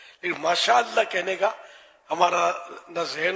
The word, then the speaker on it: ماشاء اللہ: ماشاء اللہ ماشاء اللہ ماشاء اللہ، واٹ از دس ماشاء اللہ ماشاء اللہ، یہی کر رہے ہیں نا آج کل، یہ تھوڑی ماشاء اللہ صحیح تلفظ ادا کر، انشاءاللہ انشاءاللہ انشاءاللہ آ